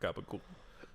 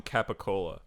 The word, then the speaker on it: capicola: they're always talking about kappa cool um yeah but apparently that's like the reason why they say it like that is that's a new jersey italian accent and they're saying capicola oh really yeah which is